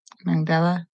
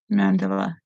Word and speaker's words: mandala: Bryant yarn acrylic yarn off of the magdala Mandela thank you come on mandala yeah mandala how have I been pronouncing it before anyways it's Amanda it's the